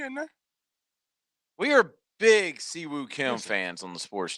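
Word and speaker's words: Si Woo: Siwoo Kim is Siwoo. I say Suwoo. Oh God, no.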